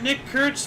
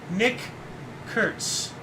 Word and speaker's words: Nick Kurtz: You gotta be careful when pronouncing this guy's name. Nick Kurtz. Yikes. If you say it too fast, you say the N-word.